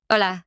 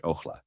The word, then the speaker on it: Hola: Hola, hello. The silent H, ojla.